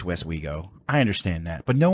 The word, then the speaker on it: Westwego: W-E-S-T, West we go. It's just like it sounds like.